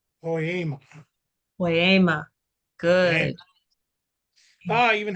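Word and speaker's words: ποίημα: Is it is it Poyama? Very close, very close. Again, the eta is an A, the longer A sound. Poyama. Poema.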